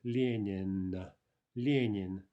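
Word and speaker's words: Ленин: Yin Judy nian no note the stress note also that the L and the N are both soft right Yin Yin Yin Yin the first Ellen the firt the first end is soft the final end is hard linen linen soon we'll venture inside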